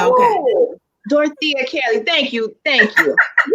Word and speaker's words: Dorethia: You gotta pretend the E is silent, and then you'll be okay. Oh, Dorethia Kelly.